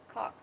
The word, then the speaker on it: caulk: How do you say caulk? Cock. Caulk. I say cock like a rooster.